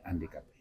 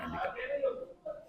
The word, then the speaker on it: handicapé: naan personne pare ne handicapé ñu xamal ni le H de handicapé c'est un H aspiré c'est pas un H muet donc nit ki nga